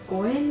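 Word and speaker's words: 五円: 縁を入れるのそれはね 5円の発音と日本語のご縁がありますようにの発音が同じだから神様と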